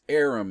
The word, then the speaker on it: Aram: it what it is it's arum it's literally spelled a RM like arm and if you said